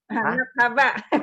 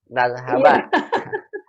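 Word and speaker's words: نذهب: Nathaba. Nulisnya nathaba tapi bacanya salah. Bacanya salah, Ibu. Jadi salah, kalau baca salah jadi salah. Nazhaba.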